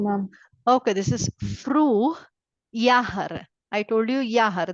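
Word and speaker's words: Jahr: okay this is fr yahar I told you yahar this is yah J A HR is yahar yahar means year f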